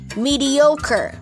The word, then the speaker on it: mediocre: not then mediocre mediocre and stress point as a third syllable yo yo mediocre ganon